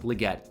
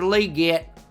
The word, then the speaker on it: Legette: I wish I could just pronounce it like Legette, but nope. Xavier Leette.